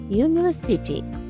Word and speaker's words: university: University. Start with the vowel letter U but makes the sound U like U. That's a consonant sound. So we say a university, not an university.